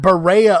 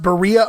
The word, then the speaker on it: Berea: Not Berea, Ohio, as you might hear on TV, on the ID channel, things like that. People wanting to sound uppity and make it sound fancy. No, it's pronounced Berea, Ohio, and it's right around the corner from